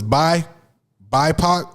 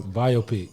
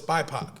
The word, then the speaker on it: BIPOC: Like, right now I didn't know if it was BIPOC or biopic. Like, I don't know if. Biopic. Love it. No, So- it's not biopic.